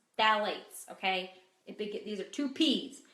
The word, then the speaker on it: phthalates: so number one are phthalates phthalates okay these are two peas but the the P in this one is silent so what is a